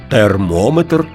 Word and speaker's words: термометр: запам'ятати ще один нюанс якщо компонент метр містить назви вимірювальних приладів то наголос там незмінно припадає на голосний звук що передує цьому компонентові барометр спідометр термометр дозиметр А тепер уважно послухаймо